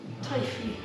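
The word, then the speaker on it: Teifi: How do you pronounce that then, Nikki, being a Welsh person that you are? Taifi.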